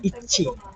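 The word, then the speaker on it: 一: This is the how to pronounce the Japanese wording. Like one, they say ichi.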